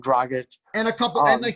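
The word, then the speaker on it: Dragić: Dragic.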